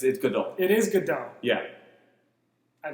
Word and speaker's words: Gadot: Is it Gadot? I thought it was pronounced Gadot. That's how it's spelled, but Godot it's Hebrew. Are you sure? Yes, 100. That's 100%. Because I've heard people say both, and I don't know. That's because the white people say Gadot and just like read by her name.